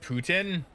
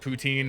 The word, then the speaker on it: poutine: explain poutine to so it's technically it is actually supposed to be pronounced Putin weirdly enough it is actually supposed to pronounced that but I call it poutine because I'm I'm English Canadian therefore I say it incorrectly um but uh poutine